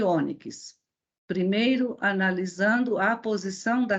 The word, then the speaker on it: ônix: Então, temos aqui tórax, fênix e ônix. Primeiro, analisando a posição da sílaba tônica. Quando pronunciamos tórax, onde está a sílaba tônica? No tó. Fênix, no fê. E ônix, no o.